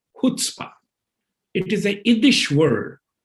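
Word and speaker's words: chutzpah: yeah it is spelled chu but it is pronounced khutspah it is a english word is a kind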